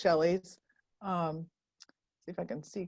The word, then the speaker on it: Schelli: it's pretty simple although my name is spelled uh differently than most shelleys see if i can